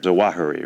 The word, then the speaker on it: Zawahiri: Zawahiri, right, is the pronunciation of his name.